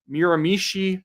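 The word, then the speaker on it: Miramichi: It could always come back the other way, but at the moment with Mir uh Miramishi Grand Lake, I'm saying it correctly this time.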